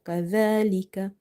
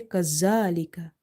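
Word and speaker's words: كذلك: Secondly, you have to focus on the pronunciation, which is like correct pronunciation of letter zal. Otherwise, you will end up mixing it with the letter za. If you say kazalika, this buzzing sound is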